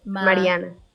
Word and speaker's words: Mariana: is it the um do you roll your r for your for your